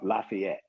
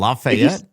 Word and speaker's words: Lafayette: There's a street here called Lafayette, and I can tell if you're from Nashville or not by how you pronounce that one street. If you say Lafayette, if you say Lafayette, you're from here. If you say Lafayette, you're not from here.